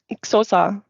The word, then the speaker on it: Xhosa: It's Xhosa. Yeah, exactly. Xhosa? Yes, but they even pronounce that word in a way. Exactly. You even have to click while saying the word, and I can't do that.